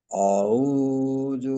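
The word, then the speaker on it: أعوذ: তো আপনার ক্ষেত্রেও কিন্তু জালের উচ্চারণটা মাখরাজ থেকে হচ্ছে না, জু, আচ্ছা জা, রি, জু।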